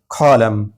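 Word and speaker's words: column: इसी तरह कॉलम, कॉलम, यहाँ भी देखिए एम के बाद एन आया है तो ये एन साइलेंट होगा यानी नहीं पढ़ा जाएगा, एम पर आवाज़ को ख़त्म कर देंगे, कॉलम।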